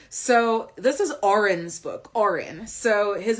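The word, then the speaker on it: Odhran: pretend it makes sense and we pronounce it Oren because we looked it up and we love a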